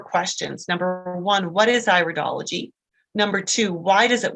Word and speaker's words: iridology: and it is pronounced iridology not iridology it's not your ear we're studying it's the iris and so when we